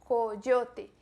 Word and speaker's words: coyote: No espanhol só existe o O fechado. Coiote. Nesse O não existe no espanhol. Coyote. E o som do Y, da Y, tem esse som marcado.